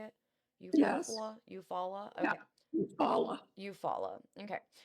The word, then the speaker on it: Eufaula: Eufaula.